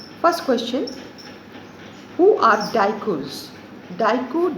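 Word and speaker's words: Diku: question who are daikus daiku d-i-k-u the american accent is daiku you can pronounce as deku also who are daikus question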